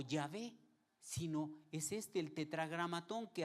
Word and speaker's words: Yahvé: U otros le pusieron, ya ven lo que me hacen decir, le pusieron la A y la E y lo leen Yahvé. Las vocales se las pusieron para poder pronunciarlo, pero en realidad su nombre es este.